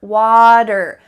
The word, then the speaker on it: water: was saying water bottle this was the second american sound that he was using the er at the end of the word er water don't forget to water